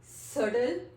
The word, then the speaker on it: subtle: Just like सडल, SUBTLE, सडल, dead and doubt.